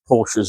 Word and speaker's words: Porsche: I've grown up around Porsches all my life, so, and yes, that is how it's pronounced.